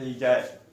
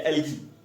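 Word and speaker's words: algae: Will be known as एल्जाई या एल्गी। सही है, एल्जाई या एल्गी, जो भी आप पढ़ लें या प्रोनाउंसिएट कर लें, वो हमारे पास तीनों फॉर्म में पाया जाता है।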